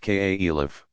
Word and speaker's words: caliph: you Mohamed's immediate successors called caliphs pronounced ka Elif inherited and expanding but